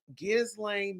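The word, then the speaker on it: Ghislaine: operated an international sex trafficking ring exploiting V gizan Maxwell that's how you say her name Giza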